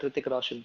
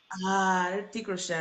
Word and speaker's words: Hrithik Roshan: I just The H is yeah, yeah. silent, so I mean, just say that Hrithik Roshan. Yeah. Hrithik Roshan.